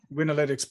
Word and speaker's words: Winalytics: Did I pronounce that correctly? Is it Winalytics. Yep. Winalytics perfectly.